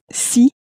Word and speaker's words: si: The if sounds a bit more like the sea that you would swim in, a little bit like that, but shorter. And the it is sounds a bit more like the English word say, but it's not pronounced as clearly as that. But that's the difference. One veers more towards see and the other towards say.